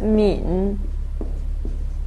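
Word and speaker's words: 皿: Here, the lower part is pronounced as min.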